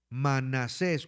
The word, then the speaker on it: Manasés: Manasés con acento en la E. Manasés.